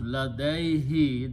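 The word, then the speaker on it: لديه: So when you combine these two together, this will be pronounced ladaihi. This who will be pronounced as he for the tajweed.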